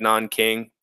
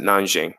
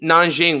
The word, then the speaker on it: Nanjing: here okay I know it looks like nan King but you know Chinese there's a couple different ways that you could pronounce stuff in Chinese they pronounce it nan Jiang so down here in